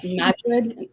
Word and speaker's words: Madrid: And I guess it said like Madrid, like with the emphasis on.